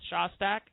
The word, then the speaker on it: Shostak: seth shostack is and by the way I am pronouncing your name correctly right it is seth shostack you do better than I do Emmy oh